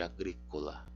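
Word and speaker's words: agricola: Onde é que cai então o acento de agrícola? Cai no gri.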